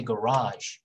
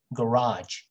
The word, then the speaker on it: garage: and in american english most people say garage but some people also say garage garage and this little